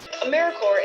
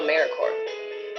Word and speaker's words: AmeriCorps: AmeriCorps is alive and well, just spelled with a silent P. So think of Apple Corps or core of the earth.